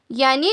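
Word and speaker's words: ي: यानी इट is pronounced from the bottom of the throat.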